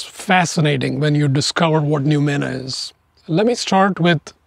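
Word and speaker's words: noumena: new mana for many viewers this might be a new word let me start by spelling it out it's spelled n-o-u-m-e-n-a it's fascinating when you discover what numina is let me start with a word that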